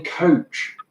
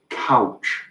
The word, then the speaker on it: Couch: It is a constant source of embarrassment and annoyance for everyone involved that my second name is Coach, because from Wigan, you would say, I'm Coach. But it's pronounced couch everywhere else.